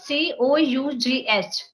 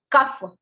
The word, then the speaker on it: cough: thought like if I so this c o u g h cuff even I also used to pronunciate it this is cuff but while coming to Bangalore only I came to know that it is not cuff it's cough you you just go